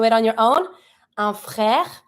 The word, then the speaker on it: frère: Un frère. I pronounce everything, but not my last E because it's mute. There's no accent on it, so I'm not going to pronounce it.